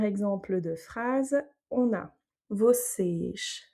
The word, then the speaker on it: vocês: Donc là, on a l'accent circonflexe sur le E. Donc c'est bien lui qui va avoir l'accent tonique. On aura un E fermé. Vocês. Et du coup, le O avant, il est plutôt aussi ouvert. Donc vocês sejam.